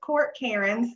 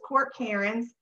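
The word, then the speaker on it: court cairns: top one this is court karen's this is another one of those um where it looks different than it's pronounced but this is court karen's um these are also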